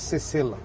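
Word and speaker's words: Sesel: all these cultures so how do you say shells in creole creole it's cecil doesn't have a special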